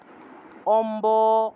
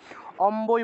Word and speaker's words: অম্ব: আগে অথবা আ থাকে ঠিক আছে মনে করেন যে অম্ব শব্দটা অম্ব শব্দ ম এর নিচে বফলা আছে কিন্তু আগে অ আছে তাহলে এই ক্ষেত্রে আমরা ম এর নিচে বফলা থাকায় ম উচ্চারণ করার কথা ছিল অমু অমু না বলে আমরা অম্বই বলতে হবে অর্থাৎ ব এর উচ্চারণটা বফলার এর উচ্চারণটা বসেই করতে হবে অথবা যদি আ যদি